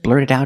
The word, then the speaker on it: blurt it out: She tells him, don't just blurt it out about Edna dying. Let's look at the pronunciation. Blurt it out. We see the T in blurt is a fast D and the T in it is a fast D.